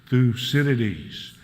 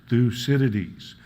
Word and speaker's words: Thucydides: a clue so let's say an outlet again thucinities thucinities so you should not stumble over that yes